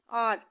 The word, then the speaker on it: hour: आर में H silent रहता है, ओ हम देखते हैं तो एन लगेगा, ठीक है।